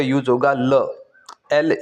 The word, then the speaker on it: la: लीव्र ल लीव्र सेकंड है feminine singular के लिए ला एल ए ला अगर हमें बोलना हो द टेबल तो फ्रेंच में हम क्या बोलेंगे?